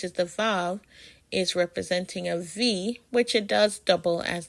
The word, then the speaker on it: Eʋe: EVE is pronounced av, or eve, and that just means 2.